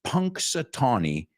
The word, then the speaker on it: Punxsutawney: 1887 again the famous town it's difficult to pronounce it's Punxsutawney and it's in PA what PA Pennsylvania so